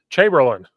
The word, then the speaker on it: Chamberlain: presenter is coach uh I'm gonna say your name wrong because I'm an idiot Chamberlain you did not say it wrong that's correct